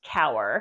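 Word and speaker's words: Kaur: spelled k Aur but it's pronounced cower she is fiercely loyal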